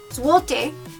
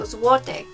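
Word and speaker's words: złoty: or a different number zuote is a type of a type of money in poland i probably pronounced that wrong but i know that the l you say like a w so zuote and so that is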